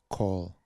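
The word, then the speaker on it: כל: would be call but this is one word that's always pronounced call as coincided and halala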